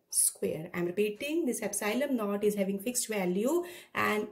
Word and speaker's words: epsilon naught: Now, epsilon naught, this symbol, this you will pronounce as, I have written it, pronunciation is epsilon naught.